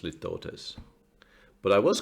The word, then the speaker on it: litotes: use it and also I've mispronounced litotes apparently it's lift Otis but I was correct